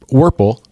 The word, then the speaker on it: Werpel: Well, to the far left is Alicia Collins, and to my right and Scott's right is Werpel, rhymes with Purple.